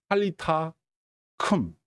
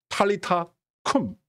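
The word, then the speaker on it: talitha koum: 그리고 그 유명한 말 탈리타 큼 이게에 원어 발음입니다 탈리타 꿈 리타가 girl girl get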